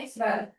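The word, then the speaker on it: x̄: Itu bacanya X bar.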